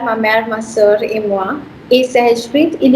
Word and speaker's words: moi: and Moti Et moi. et moi. So you've got ET ka sound, that's A, and OI ka sound, that's moi. Moi So it becomes moi.